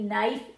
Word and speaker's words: knife: But it's spelled knife. So, you have to remember it's one of those silent kwords.